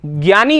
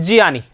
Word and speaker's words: ज्ञानी: में आ रही है तो यहां पर ज्ञानी आप बोलते हैं ठीक है ना एक्चुअल में इसका उच्चारण होता है जियानी ठीक है ना तो